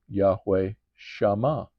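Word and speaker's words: Shammah: Now here's an instance of where this doesn't start with a s starts with a sh. Okay, this is that letter not seen s but sheen sh in Hebrew it's sh in English it's sh h a m m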